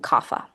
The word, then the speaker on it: Kapha: In the West, we pronounce them Vata, Pitta, and Kapha.